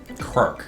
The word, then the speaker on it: Krark: Krark, it's pronounced. Krark. Krark red. No Krark rats. Not even one letter.